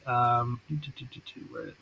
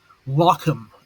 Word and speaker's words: Lochem: where he was killed, and make sure I pronounce it correctly. Lochem, Lochem, in the Netherlands is where he was killed.